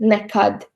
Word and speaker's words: nekad: And also stress on the second syllable is in the word nekad or never. You can hear nekad.